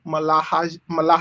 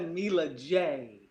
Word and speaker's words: Mila J: See, I'm not even going to try to pronounce the name Malahaje. That's Mila J.